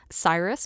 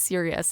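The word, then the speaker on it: Sirius: I did the same thing with I pronounced it as a child, Cyrus Black. Cuz I had only seen it when I was reading and then, you know, hearing it, "Oh, it's serious."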